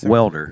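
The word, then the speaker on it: Waelder: the town C W welder welder okay I was going to say w basically the a is silent okay the ranch was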